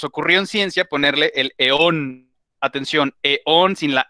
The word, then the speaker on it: eón: Eón es un espacio macrotemporal, o sea, de cientos de millones de años. O sea, imagínense todo lo que eso implica. Entonces, en el primer eón, acento en la vocal O, en el eón